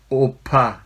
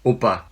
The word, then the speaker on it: 오빠: The pronunciation of double P in the middle is not pa. It's not oppa, it's oppa.